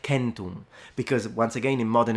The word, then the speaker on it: centum: But in classical Latin, the pronunciation of 100 would have been centum, with a completely nasalized M, and the C is a K.